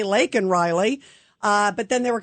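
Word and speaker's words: Laken Riley: saying say her name and then he says Lincoln Riley he doesn't say lak and Riley uh but then they were kind of going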